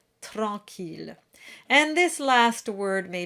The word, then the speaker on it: tranquille: Watch out for the Q-U combination. In French, that's a K sound. So the syllable is qui, not qui. And here the double L is a true voiced L sound. It's not a Y sound like we had in scintillement.